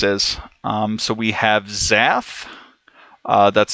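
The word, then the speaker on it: Xath: uh whatever this is um so we have Zaff uh that's spelled x-a-t-h they are responsible for the snakeway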